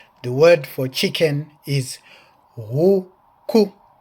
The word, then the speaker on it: huku: The word for chicken is huku, huku, which is spelled H-U-K-U, huku, and here it is, huku, huku, huku.